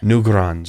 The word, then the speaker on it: Newgrange: known as new garage in Ireland till d'orange new grunge is how you pronounce it and this thing deserves to be